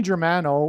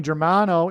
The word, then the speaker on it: Germano: Okay, let's, Tony Germano rhymes with Tony Soprano, who is symbolic of the Antichrist, the leader of the mafia in that show, The Sopranos.